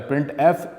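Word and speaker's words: printf: The standard library function प्रिंटफ, जिसको pronounce किया जाता है प्रिंटफ, इज़ यूज for formatted output.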